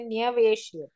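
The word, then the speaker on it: न्यवेशयत्: Well, pronouncing though, do we say niveshayat or do we say nyaveshayat? Nyaveshayat thaan chul. Yeah. You'll have to say nyaveshayat.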